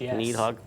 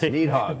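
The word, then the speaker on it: Nidhogg: of that and um uh nehog as it's pronounced need hog yes need hog we got clarification on that last week I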